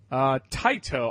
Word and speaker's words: Taito: further ado I think we should jump into tight oh I believe tight Oh is how you pronounce it the point we will talk about